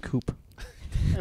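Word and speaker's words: coupe: It's pronounced coop.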